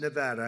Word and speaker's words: Nevada: I want to come to a state known as Nevada. Has anyone ever heard of it? And don't ever mispronounce the name.